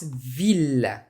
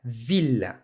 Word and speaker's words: ville: Je and j'ai, il a il est, gentil for masculine or feminine, famille, but ville. You must pronounce the double L's here.